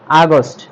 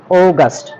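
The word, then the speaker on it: August: এরপরে আছে আমাদের, আমরা আগে এটাকে বলতাম আগস্ট, এটা আগস্ট হবে না, এটা হবে অগাস্ট, এটা কি হবে অগাস্ট।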